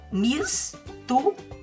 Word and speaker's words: mistura: Porque ele não está no meio de duas vogais. Ele está no final de uma sílaba. Mistura.